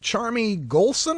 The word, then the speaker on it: Charmie Gholson: segment joining us here by telephone we've got charmy golson and i hope i'm pronouncing that right charmy you are russ thank